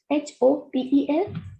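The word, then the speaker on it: hôtel: So it should be, it is H-O-T-E-L. So we will not pronounce this H, it is hotel.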